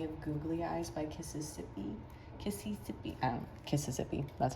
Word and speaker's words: Kississippi: Kississippi, that's how you say it.